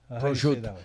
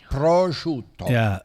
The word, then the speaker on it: prosciutto: Prosciutto. They cut off the vowel at the end. Yeah. Prosciutto. Right. The end is a O at the end. Prosciutto. Yeah. It's a three-syllable.